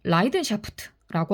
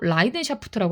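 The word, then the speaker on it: Leidenschaft: 제가 이거 독일어인데 발음이 어떤지 몰라서 챗 GPT한테 물어봤더니 라이든샤프트라고 하더라고요. 열정을 독일어로 라이든샤프트라고 합니다.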